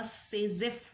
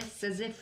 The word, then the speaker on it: Saytzeff: तो हमने last class में एक रूल समझा था, सेजेफ रूल। फिर से उसी रूल की बात होगी। SAYTZEFF' और सेजेफ रूल आ रहा है, राइट। टी इसमें साइलेंट है, सेजेफ रूल।